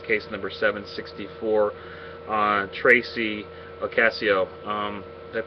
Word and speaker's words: Ocasio: night this is case number 764 uh Tracy Ocasio um did I pronounce that right Deborah yes you did okay